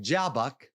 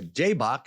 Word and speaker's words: Jabbok: It was here at Jabbok, or Jabbok, as some pronounce it, that brought an end to the flesh.